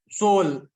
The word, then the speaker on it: soul: itself you've corrected it you first of all said solve but then you corrected it Soul so that yeah salt